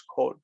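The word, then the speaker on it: כל: Closed unaccented syllable is O. That's how we know that it's kol.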